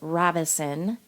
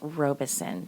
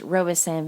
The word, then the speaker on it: Robison: So the pronunciation for part 1, I was saying Robison for the family, and it's not Robison, it's Robison. So my apologies on that, everyone. The name is pronounced Robison.